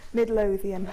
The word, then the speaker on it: Midlothian: mid mid say it Midlothian Midlothian I try and put an extra syllable in it and I don't know